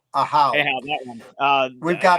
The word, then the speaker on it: Ahau: But Oahu, I don't know how Yeah, you we're pronounce it. Ahau. Ahau, that one.